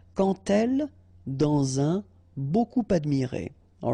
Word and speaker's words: quand elle: So like that, quand elle, all right, same rule here. Remember, when you will have this d, you will phonetically pronounce it like t. Quand elle, dans un, okay,